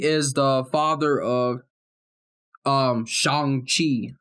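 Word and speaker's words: Shang-Chi: the father of um shang chi uh is how they say it in the movie he's the father of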